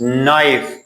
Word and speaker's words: knife: هر موقعی که حرف K قبل از حروف N قرار میگیره نوشته میشه ولی تلفظ نمیشه. For example, no, not no. It is wrong. No, دانستم. This is knife, چاقو.